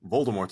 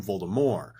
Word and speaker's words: Voldemort: want to get technical i should be calling him voldemort as she has stated personally that the t is silent moving forward grindelwald is